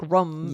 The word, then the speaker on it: room: And Lindsay says room like rum instead of room. She like in the room.